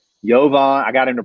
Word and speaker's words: Jovan: u sound it's a u sound it's rebula yovan i got him to pronounce it for me i was like i